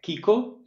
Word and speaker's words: Kiko: uh right uh so my name is uh Kiko I think that was right H Fernandez Rees